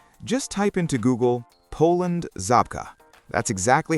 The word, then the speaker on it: Żabka: If you've been watching my Poland content, you already know exactly what Shopka is. And for those watching on the English channel, this part is for you. Just type into Google Poland Zabka.